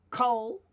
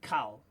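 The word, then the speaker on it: כָּל: So it is kol rather than kal.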